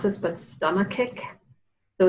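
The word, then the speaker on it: stomachic: have pronounce this but stomach kick so it's like the word stomach with an IC on the end of it and that is a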